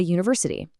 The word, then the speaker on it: university: Then the U words, a university because of that hidden Y consonant sound, but an umbrella for the H vowel sound.